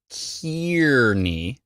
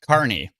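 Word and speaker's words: Kearney: on as you can now see it's spelled car with a K and then the word ear car not kiery as phonetically it would make perfect sense if k e a r is k k NE Kier no this is pronounced car NE Carney okay any who um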